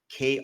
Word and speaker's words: Krantz: So he changed his last name to be more pronounceable, the spelling of it, right? Because otherwise it looks like Keith Crank, like crank is like a drug or cocaine or whatever it is. So he put an E on it. So it's now Krance. Okay. Pronounced because it's just easier that way, right?